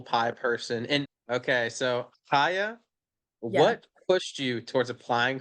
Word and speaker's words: Chaya: using but um it's haa so it's Hebrew so it's kind of pronounced with like the like H sound but for people who